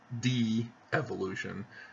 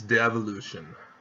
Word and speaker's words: devolution: You don't have two E's, so it's not de-evolution, it's devolution.